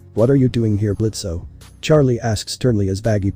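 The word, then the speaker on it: Blitzø: gets to live also do not pronounce the O in my name and who put it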